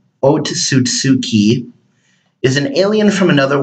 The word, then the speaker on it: Otsutsuki: it's spelled with two O's and but it's pronounced o to suit tsuki is an alien from another world and the